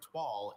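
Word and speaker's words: toile: When their new couch arrived, Martin and Louisa were irked to find that it was upholstered in a flowery twall instead of plain blue denim.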